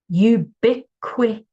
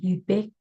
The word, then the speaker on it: ubiquitous: All right, Mia, make sure you hear the T sound, ubiquit, and then you need a tus at the end.